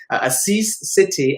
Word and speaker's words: Asis Sethi: mess and i'm super excited to welcome her assis city i really hope i pronounced that right we were rehearsing it before